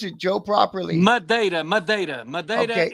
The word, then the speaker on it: Madeira: How do you pronounce it, Joe, properly? Madeira.